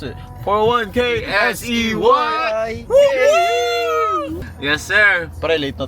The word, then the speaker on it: 401K$EY: bro Let's Get It also That's How You pronounce it 41 k sey Yes Sir pre late na tayo o ah